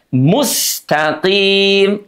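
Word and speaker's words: مستقيم: Kesalahan berikutnya ketika menyebutkan bunyi ta menjadi tebal musto mustaqim.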